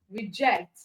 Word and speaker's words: reject: Okay, so ject as the it has the stressed syllable. Okay, it has the stress. The syllable jet has the stress. The reject is just two syllables, and re is a prefix. So if re is not stressed, then it means that the other syllable is the stressed one.